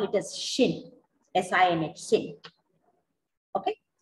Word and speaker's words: sinh: let's call it as shin sinh okay you can call it a sign h sin hyperbolic or shin let's call it as shin so now i have